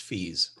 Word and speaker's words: Fies: And in our brief chat, I didn't have a chance to tell you my name's pronounced Fies.